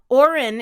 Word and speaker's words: Auren: suggest Hendrix and irelia Oren is also beautiful a you re n like Lauren without the L I like Hendrix isn't